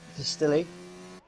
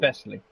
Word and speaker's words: Vesely: I'm currently looking at Distilly. Am I saying that right? I always feel like I'm saying it wrong. Vesely. Yeah, Vesely, thank you.